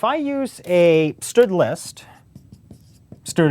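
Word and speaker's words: std: use a stood list stood is how I pronounce the standard name space um what it is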